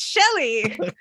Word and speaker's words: Shelly: Her name rhymes with deli. It's Shelly.